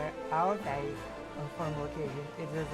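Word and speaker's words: Áo dài: Full Ao Dai. Ao Dai. Because when there's D without the dash, in Vietnamese it's like Z. pronounce it Z at the moment.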